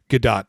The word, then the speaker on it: Gadot: her last name correctly is it gay dot or Gado gal gadot Wonder Woman it's a good dot gadot okay she is just incredible